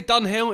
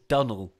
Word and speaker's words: Dunnell: People say Dunhill. It's not. It's Dunnell.